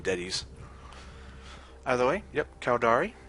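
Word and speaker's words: Deteis: Yep, D-E-T-E-I-S. Not sure how to pronounce it. I'm just going to assume Detis.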